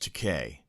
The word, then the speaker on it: Takei: despise each other and take a went up to him and said and by the way it's pronounced decay perfect pause as in toupee oh my great yeah